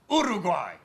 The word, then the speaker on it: Uruguay: It is pronounced Uruguay.